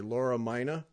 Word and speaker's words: Laura Mina: how to say your name, so I'll say Laura Mina.